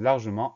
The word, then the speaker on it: largement: en secret en et on a un T muet à la fin de largement mais bien souvent quand